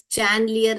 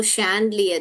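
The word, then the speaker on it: chandelier: का आपको कैंडलियर या चैनलियर नहीं पढ़ने का है बहुत लोग इसको चैनलियर पढ़ते हैं मगर वो शैंडलियर ये वाला श पढ़ना है हमको पढ़ा बेटा आपने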